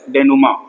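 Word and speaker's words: dénouement: called S नमा देखो इसको नमा पढ़ते हैं लिखा स्पेलिंग य है ध्यान देना ठीक डी एन ओ यू ई एम ई एन टी नुमा ग्रीक वर्ड है जिसकी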